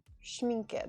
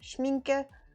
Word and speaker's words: Schmincke: i got some schmenke schmenke there we go i'm pronouncing it wrong schmincke prime primacryl this is